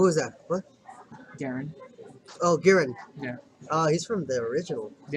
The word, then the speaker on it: Giran: Glamorous Strength, Garen. Is that how you pronounce it? Garen? Is this a... What was that? What? Garen. Oh, Giran.